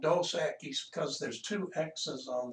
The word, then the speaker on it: Dos Equis: i'm sorry a keys try to remember to pronounce that e like an a a keys dos a keys it's the greek it's